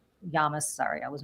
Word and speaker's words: Llamas: Um, and they're going to try to compete with David Mure and they're going to try to compete with Tom Llamas Yamas. Sorry, I was mispronounced his last name.